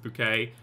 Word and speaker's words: Bucket: Bucket Molyneux, it's pronounced bouquet.